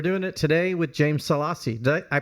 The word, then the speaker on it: Salassi: culture and we're doing it today with James salassi did I I pronounced that right right salassi salassi oh really I've I've said it wrong for